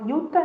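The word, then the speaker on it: Jutta: de uma monja chamada Yuta, né? Se escreve com J, Juta, mas a gente fala Yuta, né?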